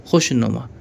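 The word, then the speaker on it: خوشنما: meme अलिफ जबर मा खुशनुमा ये वाव साकिन यानी साइलेंट रहेगा इसको हम हि नहीं करेंगे खुशनुमा यानी अच्छा लगने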